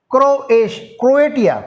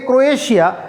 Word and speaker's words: Croatia: ক্রোয়েটিয়া, ক্রোয়েটিয়া, CRO, ক্রোয়েটিয়া, ATIA, ক্রোয়েটিয়া। ক্রোয়েটিয়া মানে আমরা বলে থাকি ক্রোয়েশিয়া, কিন্তু আসলে উচ্চারণটা ক্রোয়েটিয়া, CRO, CROATIA, SIA নয়, ক্রোয়েটিয়া।